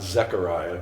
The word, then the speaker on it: Zechariah: the old testament so zechariah zach i'm going to pronounce it zechariah get that e in there has this prophecy that